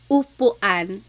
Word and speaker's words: upuan: So ulan, upuan, rain and chair, U. Not like under or umbrella. The letter U in Tagalog has an U sound.